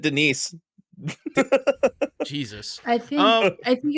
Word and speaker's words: Denis: didn't and then they didn't say Dennis they said Denise Jesus I think I